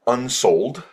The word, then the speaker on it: Unsold: It was written by a gentleman by the name of Mike Unsold. It sounds, it's spelled just like it sounds, UNSOLD.